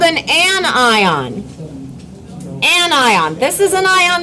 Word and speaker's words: anion: And this word right here, annion. Say it. Annion. Anion. Say it again. Anion. You know how you don't pronounce this word? If you say anion, you sound like a Stop. Say anion. This is a compound word.